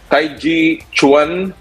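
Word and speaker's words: taijiquan: want the silver in the uh let me pronounce this properly taiji chuan yeah yeah yeah you got it all right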